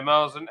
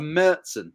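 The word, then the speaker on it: Märzen: Recently had their Marzen outstanding. Ooh, love a Marzen. Or a I love- Mertzen. A Mertzen. Apparently that's how you're supposed to pronounce it.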